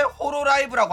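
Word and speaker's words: Hololive: 막 맨날 나오는 이야기야 홀로 라이브인데 왜 호로 라이브라고 하냐 막 이러는 거야 본토 발음 본토 발음이 아아 일본 애들은 받침을 발음을 못해요 너네들 뭐냐 유니 방송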